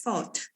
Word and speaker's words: fault: Just type find space fault. Ya, munculnya fault. Ya. How to pronounce it? Fault. Fault. Antara O sama A ya.